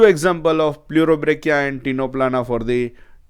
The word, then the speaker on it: Ctenoplana: So here we are taking example of only 2, Pleurobrachia and Ctenoplana. Here again C is to be written, but C is silent.